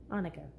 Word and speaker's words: Annika: usually tell people what's pronounced like the Jewish holiday Hanukkah except the H Asylum